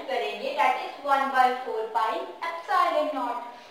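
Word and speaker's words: epsilon nought: इसे आप e नहीं बोलोगे, मिसप्रोनाउंस नहीं करना, इसकी प्रोनाउंसिएशन करेक्टली एप्सिलॉन नॉट है।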